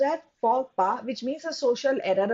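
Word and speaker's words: faux pas: this is pronounced as fora this is not false pass this is pronounced as forpa which means a social error a blunder somebody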